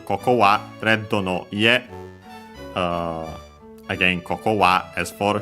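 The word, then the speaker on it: 家: An implied copula is Ledo no Ie, so yeah, red, possessive particle no, and then Ie, which means house. Accent on the last syllable.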